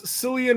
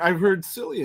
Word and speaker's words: Cillian: Ziggy says Cillian Murphy in the next 2.